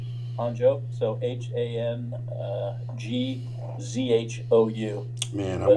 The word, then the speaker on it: Hangzhou: It's called Honcho. Hangzhou, so Hangzhou. Man, But pronounced Hangzhou.